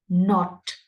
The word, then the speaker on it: knot: exactly the same manner not because the K in the first word is Silent not not they are pronounced in